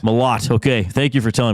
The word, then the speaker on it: Malott: You said mallet. It's Malott. Malott.